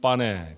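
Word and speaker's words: pane: 이탈리아 사람들은 빠네 그렇게 부르고요.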